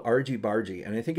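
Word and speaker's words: Argybargy: called Argy bargy or when I first bought it I think I called it Argie Bari I I didn't know how to pronounce it and I think it's called ARG bargie and I think it's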